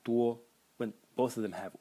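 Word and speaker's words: 多: And the semantic element is this, which is pronounced duo, and means a lot or many.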